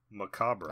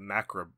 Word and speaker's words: macabre: I think it's macabre, right? That's the real way to say it, right?